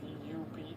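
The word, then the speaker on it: dubh: It's uh actually spelled dub d u b h, but it's pronounced dub.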